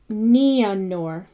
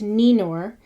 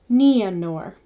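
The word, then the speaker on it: Nienor: as English peace, but with both the vowels, I and an E, sounded and run together. So it's not E, it's Ia, or Nianor. Not Ninor, but it's Nia.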